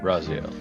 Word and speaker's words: Raziel: we'll jump over to is it pronounced uh Raziel Kyle yes Raziel all right what let's jump